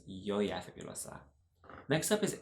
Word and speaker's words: Yoya: yo yeah fabulous stuff although I don't mind like a more Spanish pronunciation like Georgia Georgia figured what's up that's fine too but I like to say my name as Yaya fabulous ah next up